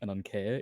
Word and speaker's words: Ananke: So like being an ancient Greek name, the E would be an eta. So I do like Ananke if you want to be the most accurate.